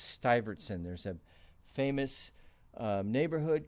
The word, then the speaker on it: Stuyvesant: That's pronounced Stuyvesant.